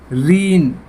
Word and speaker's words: reign: आगे देखिए REIGN, रीन, रीन होता है खटखटाना, खटखटाना। तो यहाँ भी जी साइलेंट बोला जाएगा।